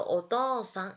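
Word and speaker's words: お父さん: 어떻소 4 어떠 싸 자 여기서 또 주의하셔야 할게 장음 입니다 어떠 우상이자 써 어떠 상 이라고 표현해 주시면됩니다 자 그 다음에 이제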